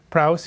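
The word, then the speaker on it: πραΰς: Here we are, praus. Here's a little easier way to help you pronounce it.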